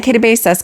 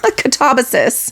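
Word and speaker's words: Katabasis: Kabasas Katabas Katabasus.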